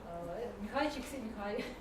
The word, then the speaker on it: Csikszentmihalyi: Короче говоря, Михайчик Михай.